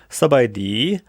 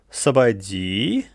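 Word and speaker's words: ສະບາຍດີ: В слове «сабайди» последний ударный слог содержит долгую гласную «и». На ней реализуется низкий восходящий тон.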